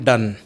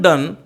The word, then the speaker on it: Donne: JOHN में H silent रखना है आपको, जोहन नहीं बोलना है, जॉन. ओके, और डॉन भी नहीं बोलना है, DONNE, डन. The correct pronunciation of the poet is John डन.